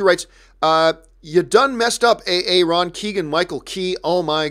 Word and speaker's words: Aaron: Like instead of Aaron, he's saying, okay, A.A. Ron.